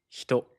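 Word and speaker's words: 人: The pronouns was How do you say person in Japanese? Hito.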